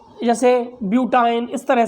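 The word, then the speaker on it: butyne: से, जैसे एथाइन, ठीक है, जैसे प्रोपाइन, जैसे ब्यूटाइन, इस तरह से हम उसको प्रोनाउंस करेंगे।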